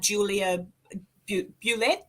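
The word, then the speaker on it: Julia Bulette: That's how you say her name, isn't it? Yeah. I mean, if they say that she was Creole or French or English, is on the story or the legend that you go with. If she was indeed French or Creole, it may be Bulett. But in town, you come and you ask for Julia Bulett, and people, that's the way the locals pronounce it.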